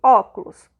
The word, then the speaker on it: óculos: tenho aqui óculos certo a sílaba tônica de óculos é o o né super fazer de novo aqui pra vocês é ó tá vendo beleza é está essa esse ó está em última penúltima ou antepenúltima o óculos não é assim então o estoque na antepenúltima Então seria o que é